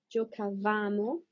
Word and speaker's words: giocavamo: The noi form, this is one that people mostly mispronounce. Giocavamo, giocavamo, giocavate, giocavano, giocavano.